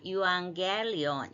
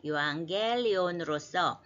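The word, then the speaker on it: εὐαγγέλιον: 명사로서 또 어 유앙이 감마 감마가 연속 나올 때에는 발음상 유악 이렇게 하기가 어려우니까 유앙겔리온 예 유앙겔리온 어 영어에서는 그냥 굿뉴스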